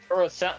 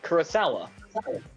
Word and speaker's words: Kurosawa: Core, being Yusha Yoshi Kurosawa. In Japanese. I probably butchered it. Kurosawa. No, you did. No, you didn't. You actually said it right. Kurosawa.